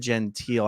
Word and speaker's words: Gentile: Real quick, Jeff, this comment says, I want to address this comment because the correct pronunciation of the person we're talking about is, in fact, David Gentile. It's not. Yeah, it's David Gentile.